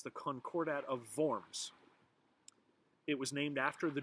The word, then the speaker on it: Worms: the word worms but in german w's are pronounced like these and so it's the concordat of vorms it was named after the german town where